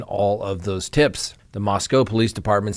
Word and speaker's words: Moscow: of four University of Idaho students now the Moscow Police Department not Moscow even though it's spelled that way which is leading the investigation